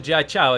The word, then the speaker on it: Jieqiao: My knowledge of Mandarin is really basic, and the rule that I tend to apply for all is that a QI is pronounced as a kind of a ch, but nothing actually has a direct English sound.